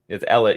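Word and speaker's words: Elesh: How do I spell it? Okay, Norn. There we go. Oh, it's Elish.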